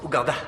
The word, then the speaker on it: Uganda: t'aime je t'aime aussi ça se prononce Uganda ah Uganda d'accord c'est bon à